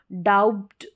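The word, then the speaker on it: doubt: रहेगा B silent होगा जैसे इसको डाउट डाउट बी साइलेंट रहेगा डाउट बी का साउंड नहीं हम प्रोनाउंस करेंगे डाउट बोलेंगे ना कि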